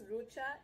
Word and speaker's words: Rucha: My name is Rucha. It's spelled H-R-U-C-H-A. The H is silent. I feel like I always have to say this to everyone I meet, so I'm gonna tell you too.